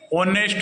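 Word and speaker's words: honest: है तो द लगाएंगे ऑनेस्ट मैन देखो एच है ये साइलेंट है ऑनेस्ट पढ़ रहे हैं हम तो ओ पढ़ रहे हैं तो हम वोल पढ़ रहे हैं तो एन लगाएंगे एन ऑनेस्ट मैन ऐसे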